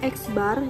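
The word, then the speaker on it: x̄: banyaknya data nah rumusnya yaitu sini eksbar dibacanya eksbar eksbar ini artinya rata-rata atau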